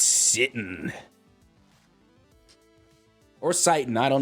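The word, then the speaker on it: sitin: on how to pronounce s-i-t-i-n it's either sitting or citing it's sit in all right thank you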